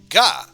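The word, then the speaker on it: が: The g sound is always pronounced as a hard g or g, so don't be tempted to pronounce it like a j.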